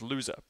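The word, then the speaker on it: Lohse: us to Dartmouth in a student named Andrew Lowe's so I'm reliably informed by my research team is in fact pronounced loser in 2012 a former member of Sigma Alpha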